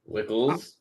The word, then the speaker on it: Wckls: with that as his last name so it wickles it is it's fine it works there's no